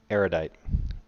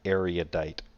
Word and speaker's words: erudite: They're just a Erudite. Erudite, not area-dite. That's It doesn't have that many syllables.